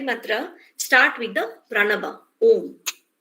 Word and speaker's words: Om: Now, the first part of Gayatri mantra start with the pranaba, Om, which we pronounce like a, u and ma.